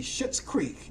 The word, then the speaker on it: Schitt's Creek: In 2015, TV comedy Schitt's Creek. Let me spell that for you.